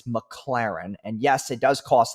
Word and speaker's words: McLaren: spends filling up a McLaren's tank okay so this part pisses me off because he says the name wrong like eight times in a row it's not McLaren it's McLaren okay so that's how we